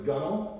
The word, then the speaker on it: gunwale: pebbles that would be it looks like it's spelled gunwale but it is gone okay tell the defense